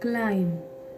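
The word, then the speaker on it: climb: जैसे कि मैं एक और एग्जांपल आपको देती हूँ, क्लाइम, CLMB। तो यहाँ पर देखिए बी नहीं पढ़ना, बी तक हम नहीं जाएंगे। क्यों नहीं जाएंगे, क्योंकि यहाँ पर बी साइलेंट लेटर है। जब भी आपको एम के बाद बी दिख जाएगा तो हम क्या है उसको बी तक प्रोनाउंस नहीं करेंगे, क्योंकि बी हमारे यहाँ पर साइलेंट लेटर है। खाली CLIM यानी क्लाइम।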